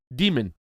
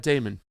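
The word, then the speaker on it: Daemon: By the way, my last name is pronounced Demon. Thank you. I just see the archaic Latin. I just used the archaic Latin spelling. Sorry. That's cultist demon, not Damon.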